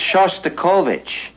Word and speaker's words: Shostakovich: we're heing uh shic you know that's Shostakovich and since you're a musician it might not be a bad idea if you learned how to pronounce it Oh you mean Dimitri